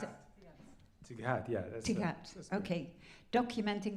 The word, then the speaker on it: TGAT: Do I pronounce it? Tighat, yeah.